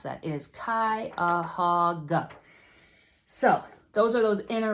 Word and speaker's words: Cuyahoga: People ask me all the time, how the heck do you pronounce that? It is Cuyahoga.